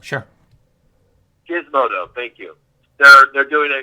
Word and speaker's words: Gizmodo: There's a big article coming out on Wednesday, and God, I'm sorry, I can't pronounce it. Gizmodo, sure. Gizmodo, thank you.